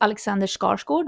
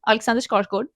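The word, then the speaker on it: Alexander Skarsgård: I am actually Swedish and the main character, if I'm not mistaken, is Alexander Scarskod, which is how you say his name. Alexander Scarskord, that's his name.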